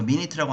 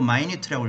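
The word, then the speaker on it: minute: 회의록들을 얻어봄으로써 미니트는 분이 아니고 사소한 것이란 뜻이 있어. 미니트라고 안 읽고 마이트라고 읽어야 돼.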